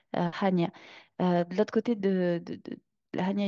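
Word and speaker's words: Chania: on a la cané la cané c'est le nom francisé de hanya Han ça s'écrit ch c'est comme ça que ça s'écrit avec un notre alphabet à nous mais en grec Hania de l'autre côté de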